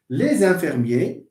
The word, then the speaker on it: les infirmiers: So we have les, and then we pronounce this S as Z. Les infirmiers.